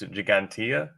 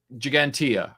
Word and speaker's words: Ggantija: I can never pronounce the first one. Sal, can you help me with that? I believe it's Ggantija. Ggantija, right.